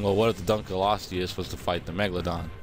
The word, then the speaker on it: Dunkleosteus: Dunkleosteus, that thing.